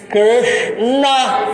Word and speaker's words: Krishna: Então fica aí o S fica lá. Krishna. E o N no céu da boca. Krishna. Olha, dá uma olhada. É só 2 sílabas.